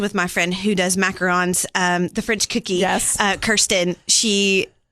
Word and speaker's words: macaron: And so thanks for saying that, because it feels weird saying macaron, but that's how you say it.